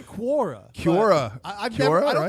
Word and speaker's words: Quora: How the you pronounce I don't go to Kora. I said I don't go to Kora. I say Quora.